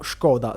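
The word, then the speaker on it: Škoda: Tra queste è doveroso citare la famosa e tutt'ora attiva Skoda o Skoda se volete, diciamo, la pronuncia più fedele e anche la cosiddetta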